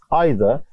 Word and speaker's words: either: طبعا احنا بننطق either, بننطقها either في الامريكان انجلش. طيب فكارلا ردت وقالت that's right, هذا صحيح, ده اللي حصل بالفعل.